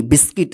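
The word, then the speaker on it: biscuit: किट बी आई एस सी यू आई टी बिस्किट देखिए यहां पे बिस्किट यहां पे भी यू क्या है साइलेंट रहता है बिस्किट का मतलब होता है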